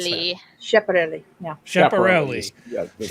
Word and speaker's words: Schiaparelli: How do I pronounce that? Schiaparelli. Schiaparelli.